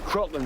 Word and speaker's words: kraken: I don't think it's "kracken" anyways. I always heard it said "krayken". Well, we always pronounce it "krayken." No, no, no, no, no. "Krocken" is how it's pronounced in Scandinavian, What happened was